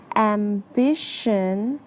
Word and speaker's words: ambition: the pronunciation for ambition the tion makes a shun sound ambition be careful while